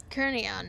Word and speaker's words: Kernion: Kernion. Welcome another sword to the cause. That's how you pronounce that name.